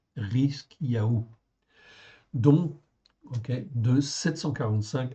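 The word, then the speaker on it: חזקיהו: Donc ici, et Ézéchias, c'est Rizkiyahu pareil. Rizkiyahu.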